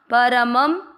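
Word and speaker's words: परमम्: शब्द पुराने के बाद म पे अनुस्वार आधा म, परमम।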